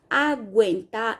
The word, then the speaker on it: aguenta: Mas nesse caso aqui, ó, aguentar, ele é seguido de E. Porém, quando a gente pronuncia a palavra, a gente ouve o fonema G e o fonema U. Aguenta. A gente ouve os 2 fonemas, então aquele não é dígrafo.